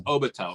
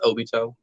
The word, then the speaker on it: Obito: also him that's cool so it is obatel right it's not Obito it I always say just pronounce it however you want to but it's pronounced Obito if you want to